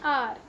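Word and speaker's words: hour: And waited for dash आर, अब आप यहाँ देख सकते हैं आर starts with H, एच तो वोवल नहीं है, but when we pronounce it sound आ रही है आ, तो यहाँ पे वोवल की साउंड है, तो इसीलिए हम यहाँ एन लगाएंगे।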